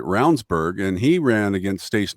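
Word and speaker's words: Ravnsborg: who was our AG his name is actually spelled ravensborg yes but is it pronounces it rburg and he ran against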